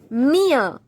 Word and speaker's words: mir: Mir. Mir. Don't say mir. It is not mir. It is mir.